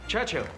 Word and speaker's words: Churchill: sir James's visit his Churchill Church chill that's how you say it all together like that I'd heard church and